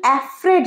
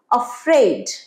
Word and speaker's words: afraid: Pronunciation অ্যাফ্রেড নয়, বলো আমার সাথে, অফ্রেড।